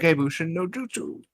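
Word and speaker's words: Kage Bunshin no Jutsu: Kagebunshi no jutsu. No, I think you said it right. Kagebushin no Jutsu.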